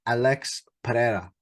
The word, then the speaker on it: Pereira: main event Champion Alex I want to try and get her Alex Pereira all right that's the more uh traditional way of how you say it taking on Israel and